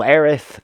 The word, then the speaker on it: Aerith: Well, Aerith, TH, is the correct one.